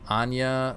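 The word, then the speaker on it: Áine: hair matching her namesake from celtic mythology so anya okay this is how you would print definitely pronounce that that's from halo initiation issue 2.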